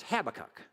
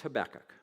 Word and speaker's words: Habakkuk: the book of habakkuk i didn't learn how to pronounce habakkuk until i was 24 years old i thought it was habakkuk but it's habakkuk it's only three chapters